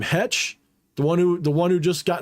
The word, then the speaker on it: Heche: Hetch, the one who just got in that car accident, that sick accident. You guys see that shit? Anne Heche.